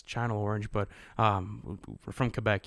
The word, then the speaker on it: Channel Orange: by the way guys sorry for pronouncing chanel orange like that it's channel orange but um we're from